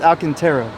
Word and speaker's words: Alcantara: this this is a alcaterra alcaterra I might be pronouncing it wrong but it's Alcantara whatever it is it looks